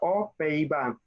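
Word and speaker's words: aux Pays-Bas: Bueno, la pronunciación sería O. Esta X no suena porque esta no comienza por vocal. Entonces sería O Pays-Bas.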